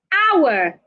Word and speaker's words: hour: Hour, the H is silent.